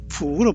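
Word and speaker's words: 伏: 그래서 중국엔 입성 기역 받침이 없기 때문에 푸로 발음하죠. 푸.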